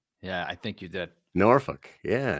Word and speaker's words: Norfolk: Norfolk. Yeah, Norfolk.